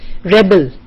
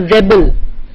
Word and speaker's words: rebel: Rebel. This word we often mispronounce it. A person, the rebel, and you rebel against authority.